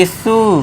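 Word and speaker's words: issue: फिर से UE last में, तो इसे पढ़ेंगे इशू, ठीक है दोस्तों।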